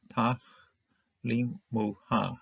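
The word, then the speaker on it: תַכְלִימוּהָ: This schwa is going to be silent because we're having closed syllable. It closes a syllable here.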